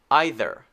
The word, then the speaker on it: either: very soft right okay now the other sound is the one with the voice added okay and this one is the same except for that difference here we go either either either either and